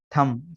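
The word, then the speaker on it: thumb: थम, टी एच यू एम पी, थम।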